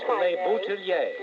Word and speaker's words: LeBoutillier: Well, it's Leboutillier.